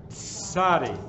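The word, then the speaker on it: צדי: Sahni now this was this one is pronounced TS ad i sadi like a TS sunny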